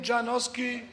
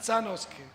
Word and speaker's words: Sanoski: The Turkish they say my name Janoski. The Greeks say Koski, but my real surname is Sanoski.